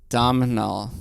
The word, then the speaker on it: Domhnall: Domhnall. Thank you. There you go. Domhnall. Yeah. As our good friend Andrew told us in the interview, it's Gaelic. So the M's are not pronounced.